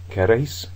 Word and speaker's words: queréis: Queréis, it's on the ending.